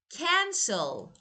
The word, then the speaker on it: cancel: Or when I say cancel, cancel, cancel is verb. But stress is on the first syllable.